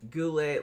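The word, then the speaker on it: Goulet: Uh class says, "How do you spell that when drunk?" Well, Robert, you got Robert, right? Um, Goule, like take like G O L E T.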